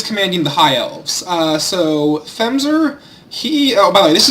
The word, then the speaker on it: themzr: I believe his name is pronounced themzr. It's themzr. He is here, themzr TK,